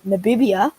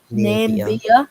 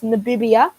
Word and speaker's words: Namibia: But surely the winner is an easier group than Namibia, as I learnt. That's how you pronounce it. Not what did Namibia? It's Namibia.